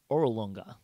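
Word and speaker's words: Orolunga: for the ruins of orolonga can you spell that o-r-o-l-u-n-g-a just like it sounds fire come on it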